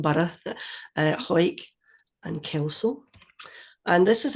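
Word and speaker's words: Hawick: team really but hike just say it really quickly one one syllable quick what was it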